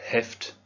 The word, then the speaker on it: Heft: On pense à bien prononcer le H de Heft, das Heft. On sent presque quelqu'un qui a envie de tousser, das Heft.